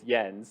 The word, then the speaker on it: Jens: It sounds amazing, and already I realize I'm 0 for 2 with pronunciation, and that it's Jens.